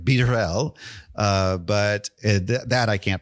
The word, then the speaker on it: Barelle: Um, now it's not Burell. It's like beerel.